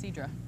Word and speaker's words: sidra: my favorite ciders and it actually pronounced Sidra Sidra have to be fans